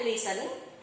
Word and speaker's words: listen: Oke, swim, drive, listen tanpa T, cara bacanya listen.